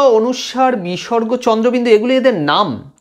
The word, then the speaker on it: অনুস্বার: পাচ্ছি, সেই উচ্চারণটা হচ্ছে অনুস্বারের উচ্চারণ। অনুস্বার, অনুসাং নয়, অনুসাং বলে অনেকে, অনুস্বার।